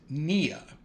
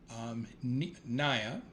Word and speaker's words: Nia: Today is day 5, Nia, Nia. In Swahili, it is pronounced Nia, and it's defined as purpose and goal.